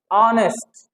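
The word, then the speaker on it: honest: करोगे तो फस जाओगे इसको नेस्ट नहीं बोलते है नेस्ट क्या होता है ऑनेस्ट तो ऑनेस्ट स्टार्टिंग एच जो कि कंसोनेंट साउंड है लेकिन उसका उच्चारण करोगे तो किससे आएगा वही अगेन अ आएगा ऑनेस्ट क्या होता है ऑनेस्ट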